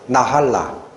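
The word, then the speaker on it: נחלה: 기억은 안 하셔도 돼요 잠깐 발음을 기억하세요 나할라 뜻이 기업 유산에 아까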